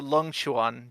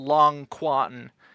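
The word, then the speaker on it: Longquan: This is the Longchuan Jian, so the Long Quan, if you want to pronounce it like that with the Q, LQ Jian.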